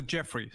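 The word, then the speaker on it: Djeffry: books and such that Jeffrey with a DJ e FF r y brought you it's pronounced the Jeffrey he he brought you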